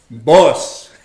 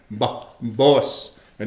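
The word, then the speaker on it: poosa: Boss. And it's spelled P-O-O-S-A. You don't say the bossa, boss. Silent A.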